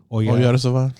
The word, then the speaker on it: Oyarzabal: You know how to pronounce that? Oyarzabal.